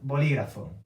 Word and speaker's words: bolígrafo: How do I know how to say this word? Because I have the accent. I have the apostrophe here, okay? Tengo un bolígrafo.